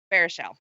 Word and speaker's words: Baruchel: And also in that movie is Jay Baruchel, who was in Sorcerer's Apprentice. Jay Baruchel, yeah. Baruchel, thank you. I've never been able to pronounce that kid's last name, but I enjoy him.